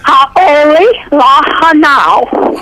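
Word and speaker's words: Hauʻoli lā hānau: Ha'oli lahanau.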